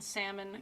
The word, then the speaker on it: salmon: Jesse that's exactly right we don't pronounce the L and salmon here in Alaska I I don't pronounce